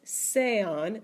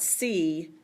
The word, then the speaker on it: sea: Ustedes sean, not Sean, sean. And the usted form is sea, not see, sea.